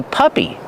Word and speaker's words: puppy: Use the short uh sound like cup and up. P-pup. Puppy plus the long e sound like green beans.